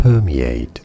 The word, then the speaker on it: permeate: Permeate. Stress on that first. Per syllable. He can teleport. That's not it. Aid. In American English, it is said as permeate.